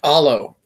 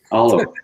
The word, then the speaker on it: Olo: Just Olo, Olo. Correct. Right. like follow.